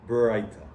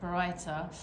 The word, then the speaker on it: Baraita: A sage taught the following, how do you pronounce that? Baraita. Baraita.